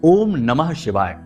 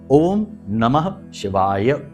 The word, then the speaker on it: ओम नमः शिवाय: पूरा मंत्र उच्चारण करेंगे बहुत से लोगों को हमने देखा कि मंत्र ही सही नहीं बोल रहे तो काम कैसे होगा मंत्रों में शक्ति है ऊर्जा है तो बोलते ओम नमः शिवा ओम नमः शिवा तो ना तो नमः बोला ना ही शिवाय बोला तो ये गलती नहीं करनी है अच्छे से उच्चारण करना